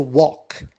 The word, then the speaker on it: walk: verb which is to walk l is silent and the past becomes